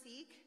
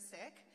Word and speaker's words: Sikh: you'll hear the word seek it's with a short eye so we pronounce it sick six are a uh